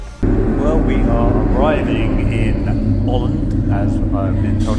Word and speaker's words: Åland: Well, we are arriving in Holland, as I've been told it's pronounced.